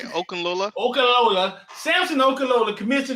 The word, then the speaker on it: Okunlola: Listen, if you're just getting in here, Samson Okunlola commits to the university. How you say his name, Rich? You the only one in here with degrees. I got a associate degree. You said it right, Okunlola.